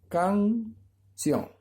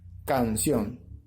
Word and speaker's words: canción: Canción, ¿ya? 2 sílabas. Sencilla. Entonces, canción. Lleva mayor fuerza de voz en la última sílaba. Porque no puede decir canción, ¿ya?